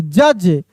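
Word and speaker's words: judge: बैज जे यू डी जी ई जज क्या पढ़ रहे हैं? जज डी साइलेंट है।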